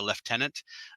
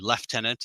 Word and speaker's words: lieutenant: think he was a leftenant uh that's how the British pronounced that and the Canadians too left tenant instead of Lieutenant um The Americans pronunciation